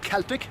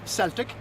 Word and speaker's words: Celtic: century ireland was a celtic society and that's pronounced celtic not celtic that's the football team from glasgow or the